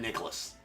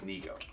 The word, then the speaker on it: Nico: How to pronounce that because it's not Nicholas, right? I'm glad that you popped in and reminded me that it is Nico, right?